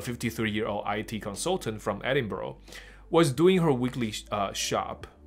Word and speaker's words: Edinburgh: ，所以他不是念作 Edinburgh, 他念作 Edinburgh, 所以有一个这个 Borough 这个词就。